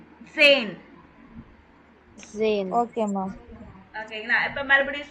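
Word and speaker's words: zehn: அப்புறம் zane.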